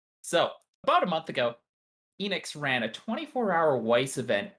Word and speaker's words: Ehnyxs: It's Enix. Enix. Okay. Yeah, like Square Enix.